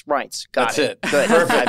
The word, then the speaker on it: Reince: Well, I was told to or think about it as pints, right. Pints of beer, pints, Reince.